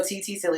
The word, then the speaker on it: ttsille: word is right yes whatever it is so tt silly if you want to hit me up personally